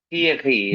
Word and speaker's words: Thierry: আহ, এটা প্রনাউন্সিয়েশন হবে থিয়েরি, right? তিয়েরি, হ্যাঁ, রাইট, তিয়েরি।